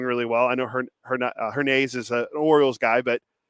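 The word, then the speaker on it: Hernaiz: A hernaise but up here people called him her knives and then Russell Langer the voice of the aviators said her Nays and I went you know what I gotta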